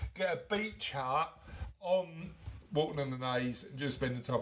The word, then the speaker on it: Walton on the Naze: Sarah Sutherland said going to Walton on the Naze. We love a bit of Walton on the Naze, don't we? So part of our annual tradition. It rhymes with your favourite sauce. Mayonnaise. Maybe we should start a